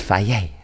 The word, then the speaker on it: Fage: That's not how you pronounce it. It's Faye. Faye. It's Swedish or something, but I call it Fage.